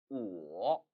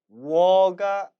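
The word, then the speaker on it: 我: 이는 워가 아닙니다. 워워워는 소몰 때 쓰는 소리고 중국어의 정확한 발음은 우 모음과 워 모음이 합쳐진 거란 얘기예요. 따라서 우워 우어라는 발음에 삼성을 붙인 우어 우어가 정확한 발음이 되는 겁니다.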